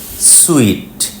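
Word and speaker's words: suite: হোটেলের যে রুম দেখলেন তার নাম সুইট মিষ্টির জন্য যে ইংরেজি শব্দ তার মতোই উচ্চারণ দুটোর একই উচ্চারণ সুইট প্রথম শব্দে এবং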